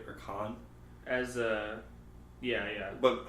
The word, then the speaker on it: Caan: Or Caan? As yeah. But how do you pronounce the last name? I think Caan.